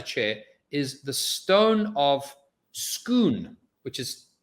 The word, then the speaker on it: Scone: so inside the chair is the stone of schoon which is spelled scone or scone we now have a